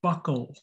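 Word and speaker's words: buccal: term for your cheek this is pronounced funny this is your buckle buckle region your cheek is your buckle region the term for your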